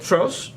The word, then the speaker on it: Trautz: I pronounce it right trout trout like two fish trout that sounds sounds sounds